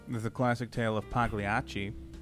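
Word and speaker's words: Pagliacci: I I thought it was Paglanachi or Paganucci or something like that. Pagliachi.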